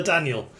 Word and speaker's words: DA9L: The Daniel. It's because 9 can be pronounced as nio in Swedish, and his Swedish name is Daniel, so, you know, Daniel.